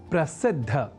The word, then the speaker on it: प्रसिद्ध: अर्थात प्रसिद्ध को प्रसिद्ध इस स्वरूप में न समझकर या न लिखकर हम प्रसिद्ध अर्थात द और बाद में ध इस अक्षर विन्यास से युक्त शब्द प्रसिद्ध का ही लेखन और तदनुसार शुद्ध उच्चारण करेंगे।